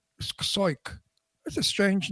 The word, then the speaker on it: Siok: And how do you pronounce Ted's last name? Siok, I think. Soit? S-O-I-T? S-I-O-K. Soik.